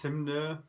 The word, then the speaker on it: Hymne: It's Hymne because it's a bit more of a German pronunciation.